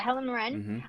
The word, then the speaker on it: Helen Mirren: Yeah, Helen Mirren.